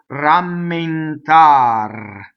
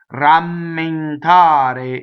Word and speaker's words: rammentare: Rammentare is the full word. So all the E's will be closed in that word because they are not on a stressed syllable. Notice the double M. And notice the N going into the T.